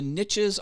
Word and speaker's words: niche: down baby pat flynn likes to say the niches are in the riches even though it's pronounced niche it's just a better uh cadence